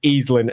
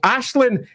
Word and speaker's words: Aislinn: Ashlin is a slightly less well-known name. So, it would be unfair to call everyone who calls it Easlyn an idiot because it's just not well known. But it would be fair to say do take a check about how names are pronounced first. So, Ashlin is probably the way it should be pronounced.